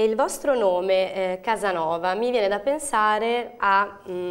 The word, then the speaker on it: Kazanova: e la Z quindi la pronuncia esatta del vostro gruppo com'è Diciamo che è Casanova perché anche in turco si pronuncia così però è scritta con la k e la Z diciamo un po' diverso